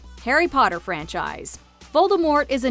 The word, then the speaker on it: Voldemort: The T is silent. Harry Potter franchise. Voldemort is a name many wizards are afraid to say.